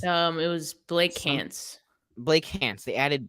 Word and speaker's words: Blake Hance: Blake Hance. They added Blake Hance, which actually rhymes with Trey Lance, but they added Blake Hance on the team and they waived Trey Sermon.